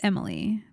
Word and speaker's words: Emilie: And I think this is Emily, but it's spelled Emilie, which is fun.